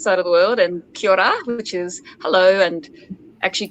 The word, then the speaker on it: kia ora: Kia ora. So it's K-I-A, and the second word is O-R-A. So it's pronounced kia ora. And the last two letters, R-A, you think of Ra.